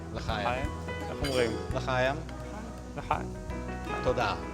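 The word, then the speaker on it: לחיים: L'chaim. L'chaim.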